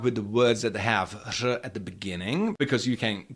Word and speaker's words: řada: Uh start with the words that have R at the beginning because you can get your mouth